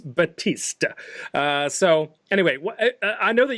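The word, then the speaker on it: Baptiste: owl so it is there's no P you don't pronounce the P it's Battista so anyway I know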